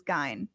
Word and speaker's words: Gein: i think let's pronounce it but it's actual pronunciation is gain all right before we do that i'm going